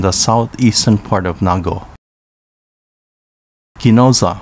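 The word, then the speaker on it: Ginoza: southeastern part of nago kinoza pronounced chinuza has more than 50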